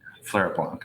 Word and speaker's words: Fleuret Blanc: But Fleuret Blanc is how I do it.